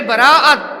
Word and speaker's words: বারাআত: অর্থ হলো অর্থাৎ সব অর্থ হলো রাত আর বারাত শব্দের অর্থ হলো মুক্তি নাজাত কোন একটি খারাপ